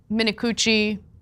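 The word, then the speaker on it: Minicucci: should never have happened Alaska Airlines CEO Ben minakuchi that is his name that is how you pronounce it we did double check is furious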